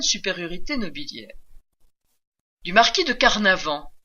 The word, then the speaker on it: Carnavant: Du marquis de Carnavant, un nom qui rime avec carnaval, au pitoyable marquis de